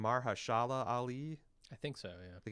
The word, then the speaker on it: Mahershala Ali: You've got an all-star partnership with a talented writer and showrunner, and I guess how you pronounce this guy's name? Mahershala Ali.